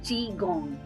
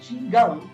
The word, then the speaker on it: qigong: So when I was just going through your profile, I read about a term, qigong. The spelling is a little different, but thank you for helping me with the pronunciation.